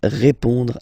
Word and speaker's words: répond: So, final D is not pronounced. You will only have this on nasal sound at the end.